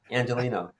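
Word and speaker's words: Angeleno: Angelino.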